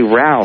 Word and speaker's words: Ralph: yeah they don't say Ralph they say Ralph the L is silent idiots hey Mike and